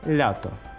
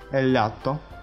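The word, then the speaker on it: lato: Следующая Л, видите, читается Л, всегда мягкая. Лето, лято, лято.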